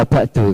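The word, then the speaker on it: وبعد: Ini bacanya wabakdu karena ba'du ini termasuk mabni domah ketika mudhof ilaihnya dibuang.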